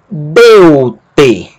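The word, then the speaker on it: Δεῦτε: A outra sílaba, tal, epsilon. T. Deu-te.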